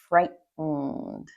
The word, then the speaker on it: frightened: because very commonly when we have an en after a t, we say it as it's called a glottal t. So we stop the t right back here and we let out the next syllable. So there's almost no t.